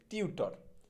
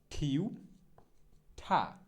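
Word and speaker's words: tutor: গৃহশিক্ষক এটা হচ্ছে আমরা বলি টিউটর, একদম মুখস্থ আমাদের টিউটর। সঠিক উচ্চারণটা মোটেও টিউটর হবে না, সঠিক উচ্চারণটা হবে হচ্ছে ঠিউঠা, সঠিক উচ্চারণটা হবে হচ্ছে ঠিউঠা, ঠিউঠা। মোটেও টিউটর না, ঠিউঠা।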